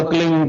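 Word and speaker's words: क्लीं: की मात्रा और बिंदी उसका उच्चारण होगा क्लिंग ग की पछ आप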